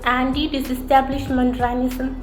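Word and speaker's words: antidisestablishmentarianism: What is anti-disestablishmentarianism and how to pronounce that? Let's see how to pronounce that. Anti-disestablishmentarianism.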